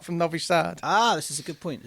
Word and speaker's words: Novi Sad: Novi Sad. Okay, that's a long A then.